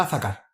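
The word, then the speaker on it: זָכַר: es el número 2142 viene de la palabra azacar énfasis en la segunda sílaba y dice recordar esto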